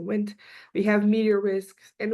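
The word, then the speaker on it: WNT: who are low risk it's called wind d n we pronounce it wind we have medior risk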